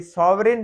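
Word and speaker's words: sovereign: है है वह उसमें सावरेन आप पढ़ेंगे तो यह सावरेन है खुद मुख्तार जिसको कहते हैं तो जी साइलेंट है और ये यहां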